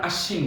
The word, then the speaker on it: আশ্বিন: আমরা সরাসরি তাদেরকে বলে দেব এই বয়ের উচ্চারণ হবে না, আমরা আশ্বিন বলবো।